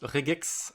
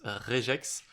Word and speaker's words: regex: Alors, certains prononcent regex. Certains prononcent réjex.